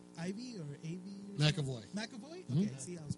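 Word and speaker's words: McAvoy: younger version James M Ivy or a makoy makoy okay see I was pronouncing the wrong the enti time the whole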